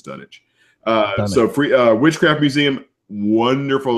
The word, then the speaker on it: Dunwich: it's it's it's like it's like Greenwich right reddit grin wit green which is Greenwich I guess I think done which I believe is done it so free witchcraft Museum